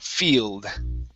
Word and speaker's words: field: see here Field Okay Instead of failed okay it's a long e sound Field Field Okay One more time Instead of field it's it's just like the Spanish e sound F Field Field There